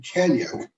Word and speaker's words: Kanyuk: And I get a text from you that they offered Justin Kanyuk, I believe that's how his name is pronounced, and he's unranked.